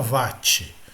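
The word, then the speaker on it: watt: é o wat o a pronúncia correta seria o what mas em português português brasileiro todo mundo fala VAT tá e o VAT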